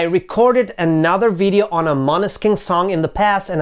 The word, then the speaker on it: Måneskin: together tarna akaza by money skin yes i have been told the right pronunciation is something like monoskin and not many skin or mana skin now if you're new